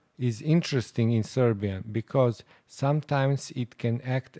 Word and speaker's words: Srbija: row, but in reality, there is that semi-vowel right after the letter r. So let's pronounce it slower. Sr, bi, ya.